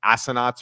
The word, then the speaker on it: assignats: You can look it up, the pronunciation of it. It's something called like assignats or whatever.